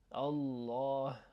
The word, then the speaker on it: Allah: I'm just going to say that ideally that's the way you want to pronounce Allah. Allah.